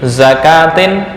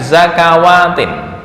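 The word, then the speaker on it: زكاة: ini Oke kita prakkkan min zakatin bukan zakawatin witum miraru praktik membacanya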